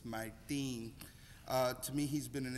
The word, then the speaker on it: Martín: I heard you're not supposed to mispronounce his name, it's Martín.